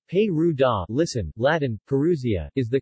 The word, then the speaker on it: Perugia: Perugia Italian pronunciation pay rude ah listen Latin parousia is the capital city of